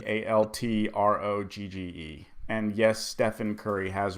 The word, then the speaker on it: Altrogge: pH like Stefan curry and then altro be alt rog GE and yes Stefan curry